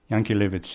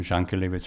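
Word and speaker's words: Jankélévitch: Yankelevich in the Yiddish pronunciation. In French, they call him Jankelevich.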